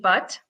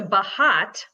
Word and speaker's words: Bhatt: I have Toby's name, but my last name is Bhatt, Butt. Oh, okay. So so growing up, I never told anyone it was Butt because, you know, for obvious reasons. So I changed this pronunciation of my last name to Bahat for about 4 or 5 years. And then when I got into high school, I changed it to Bot.